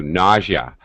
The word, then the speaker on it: nausea: this word okay nausea sort of a strange pronunciation too nausea if you feel nausea or you're nauseous um